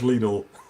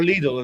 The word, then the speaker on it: Lidl: or Lidl. Is Well, it? it's German, you, actually. You pronounce the I, yeah.